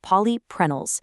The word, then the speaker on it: polyprenols: It contains 90% phytogenetic polyprenols, pronounced polyprenols.